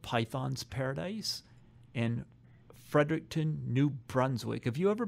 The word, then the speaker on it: Fredericton: How do you say Fredericton?